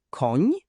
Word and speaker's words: koń: To ni to zmiękczony n. Brzmi jak hiszpańskie ni w słowie senior. Na przykład słowa koń, słoń, jesień.